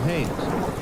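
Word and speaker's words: Haines: Yeah, his name is Haynes.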